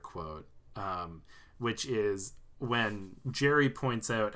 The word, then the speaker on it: Gary: friend of yujo hanma his name's Gary but he pronounces it Jerry he says it's yeah his name is Jerry but it's spelled g